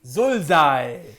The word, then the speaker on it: Zulzai: Zulzai rhymes with bullseye।